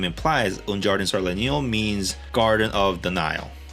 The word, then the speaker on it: Un Jardin sur le Nil: So here's a dubbed version with the correct pronunciation. Un jardin sur le Nil, Hermès.